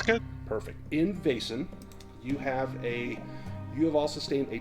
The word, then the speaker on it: Vaesen: In Vaesen, you have all sustained a trauma.